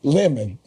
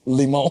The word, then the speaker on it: Limon: She said his name is Limon, but she pronounced it as lemon. So he said, no, man, it's Limon. Limon.